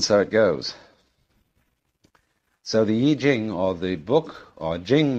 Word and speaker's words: Yi Jing: the Book of Changes, called the Yi Jing, not the Wai Ching. I'm afraid that the way that we romanize Chinese words bears very little resemblance to the way they're pronounced.